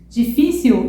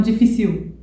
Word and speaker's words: difícil: a gente entona mais então eu falo agiu e não agiu difícil e não difícil útil e não útil Deu para entender então